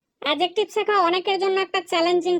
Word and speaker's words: adjective: এটা অনেকে উচ্চারণ করে এডজেক্টিভ কিন্তু এটার সঠিক উচ্চারণ হচ্ছে এডজেক্টিভ এখানে ডি কিন্তু সাইলেন্ট হয়ে যাবে প্রথমেই তোমাদেরকে উচ্চারণটা বলে